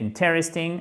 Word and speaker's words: interesting: Et là, ce qui est non pas difficile, mais interesting, intéressant, c'est cet accent tonique qui est sur la première syllabe, chers amis. Il s'agit d'un i court.